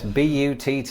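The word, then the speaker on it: butte: ] is that yes b u tt e now before I go any further it's probably important in the interest of not being demonetized that I point out that this word is pronounced but and it's probably quite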